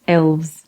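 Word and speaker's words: Aelves: to fill races infections is pronounced elves like elves yes though there is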